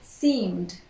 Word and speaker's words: seemed: Again, we do not pronounce the E, we produce the D. Seem becomes seemed.